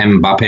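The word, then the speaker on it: Mbappé: ये फ्रेंच नाम है एम्बापे, मैंने सुबह इसकी प्रोनाउंसिएशन भी चेक की थी।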